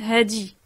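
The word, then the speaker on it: هادي: Au niveau de la prononciation, faut pas confondre, parce que c'est vrai que en arabe, on dit hadha, hadhi, avec un zel. Mais là, en derija, on prononce pas le zel, on le prononce del.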